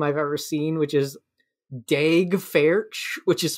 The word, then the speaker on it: Daeg Faerch: He's played by someone with the most Tim Robinson name I've ever seen, which is Daeg Faerch, which is spelled DAEGFAERCH.